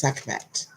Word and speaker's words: Sekhmet: Make sure I pronounced her name right. Yes, Sekhmet.